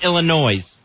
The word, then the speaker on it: Illinois: puts the S on Illinois. Oh, yeah. Right. That drives me nuts when that's perfectly clear. Yeah. That the S sound is silent.